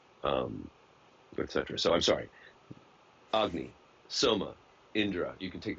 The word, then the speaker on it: Agni: And So also Agni, Agni. Okay. that's how it's pronounced in.